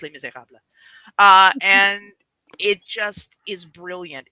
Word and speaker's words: Les Misérables: Kevin, it's pronounced Les Misérables.